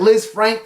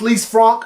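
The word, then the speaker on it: Lisfranc: prompt injury I think we're all calling it Liz Frank cuz we ain't French but it is pronounced least Franck but basically what's going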